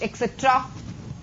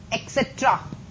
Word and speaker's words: etc.: Who, but, that, which, etc. etc बोलते हैं इसे हम. etc नहीं बोलते हैं. ETC कभी भी प्रोनाउंस नहीं करोगे आप लोग स्पीकिंग में. You want B pronounce ETC, you have to pronounce एक्सेट्रा.